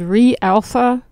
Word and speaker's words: reAlpha: And if you want to check it out, so the company's name is reAlpha. And that's, you spell it just like you say it, R-E, and then the alpha.